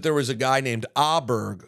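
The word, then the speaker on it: Åberg: was a guy named auberg who above the a had a little mini Circle and I literally did not know how to pronounce his name I thought it was Amberg I am so proud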